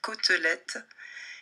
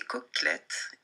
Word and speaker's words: côtelette: J'avais du mal à dire côtelette. Je disais coquelette.